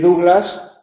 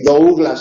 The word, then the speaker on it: Douglas: Bueno, pues porque Douglas es de la época en la que se estudiaba francés y Douglas se pronunciaba la francesa Douglas, y sin embargo Douglas ya se ha estudiado inglés, ¿no?